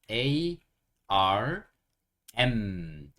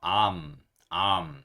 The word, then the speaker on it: arm: m ARM 이렇게 얘기해요 ARM 중간에 아이 있기 때문에 발음하기가 굉장히 어려워요 ARM ARM 그래서 너무 어려우시면이 아은 빼시고 그냥 아 하고 미음 받침으로 암 이렇게 하셔도 뭐 크게 문제되진 않습니다네 하지만 정확하게 발음 하시려면